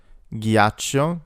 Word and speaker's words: ghiaccio: gotcha in English, g, ghiaccio, gh makes a g sound, ice, giardino, such as in job in English, hamburger, the H sound is silent in Italian.